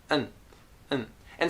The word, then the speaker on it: and: it sounds like this and and sometimes just so-so sometimes it's very hard to hear because it's so short and it's so fast and it's also usually